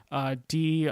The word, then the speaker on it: Drager: It's called I Found Myself, Tyler Dragger, and that's spelled as it sounds, Drager.